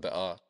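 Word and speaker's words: Bekaa: flowers of Paradise The Bea Valley which in Lebanese Arabic is pronounced ba is a region in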